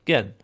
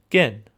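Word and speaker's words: Կեն: So this letter is called gen giving a g sound. So a hard g sound but that is with the western pronunciation. How about the eastern? So, pause the video and guess the eastern pronunciation and I'll show the solution in three, two, one. Ken, ken. So, this gives us an unaspirated k sound, which I think of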